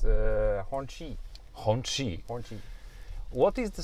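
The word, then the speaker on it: Hongqi: The pronounced name is Honqi.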